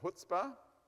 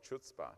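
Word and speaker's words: Chutzpah: I was calling it chutzpa but it's actually hootspa okay I don't know why the C is not they should have just deleted the C and then we'd all pronounce it right okay anyway selenium and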